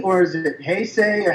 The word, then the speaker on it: Heisei: The Showa series, for me, had more, and I am a diehard Hesse fan.